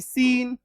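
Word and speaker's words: scene: तो अगर एससी के बाद ई आई वाई ऐसा कोई कॉम्बिनेशन आपको मिल जाता है। यानी एससी की दोस्ती अगर आप देख लिए कि अरे भाई एस तो है ई आई वाई से दोस्ती कर लिया है। मतलब इसका उच्चारण स होगा। है ना? तो एस सी एन ई सीन एस एन T Saint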